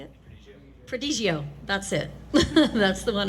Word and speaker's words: Prodigio: And mine's the La Sportiva Prodigo Pro. Is that how you say it? Prodigio.